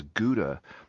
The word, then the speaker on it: Gouda: Now, a lot of people don't know that Dutch howa cheese, uh, which Americans pronounce as Gouda, is actually the largest selling cheese in Mexico.